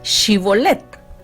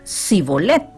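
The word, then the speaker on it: Shibboleth: le decían ahora pues di chibolette y él decía sibolette porque no podían pronunciar la palabra correctamente Entonces le echaban mano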